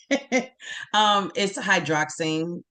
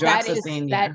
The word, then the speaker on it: hydroxyzine: It's hydroxine. I think that's how you pronounce it. So that's hydroxyzine.